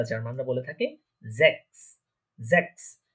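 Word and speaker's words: sechs: আমরা সাধারণত দেখেছি অনেক জার্মানের ক্ষেত্রে জেডটা স বা এস এর মতো উচ্চারণ হয়, আবার এসটা অনেক সময় এস ও উচ্চারণ হয়, আবার জ বা বর্গীয় জ যেটা বলে থাকি আমরা বাংলাতে ওইটার মতো উচ্চারণ হয়। তাহলে এটার প্রনাউন্সিয়েশন কি হচ্ছে জ্যাক্স।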